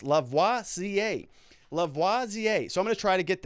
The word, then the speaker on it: Lavoisier: Also, the handle is pronounced Lavoisier, as in the famous chemist, Lavoisier.